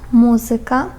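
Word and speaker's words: muzyka: Насправді там акцент у цих наголос у цих словах вони у більшості грецького походження падає на третю від кінця. Якщо рахувати склади, то на третій склад від кінця падає.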